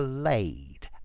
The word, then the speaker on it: lade: This is an adjective, and the verb that goes with it is to lade, L-A-D-E. Yeah, it sounds like lay, laid, laid, but it's spelt differently.